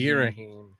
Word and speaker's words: Ghirahim: Girahim. Girahim. Girahim. I don't even know how that's spelled to think about it the other way that it could be.